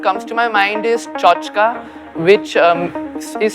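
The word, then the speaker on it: tchotchke: i mean what comes to my mind is chochka which is spelled t c h o t c h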